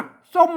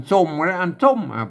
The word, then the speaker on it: ส้ม: ฮ่อ น ฮาก าก ส้ม เห ม ไ กง ไ กง สะกด ตมะ เห็น มั้ จะ อ่าน สม ก็ ได้ อ่าน ส้ม ก็ ได้ อ่าน ส้ม กรณี นี้ อ่าน ว่า ส้ม ก็ าก ส้ม อัน นี้